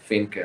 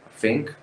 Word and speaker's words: Finke: And I just think that I have that capacity that Robert Finke, or how's his name pronounced, has. Fink. Robert Fink, like, if I wouldn't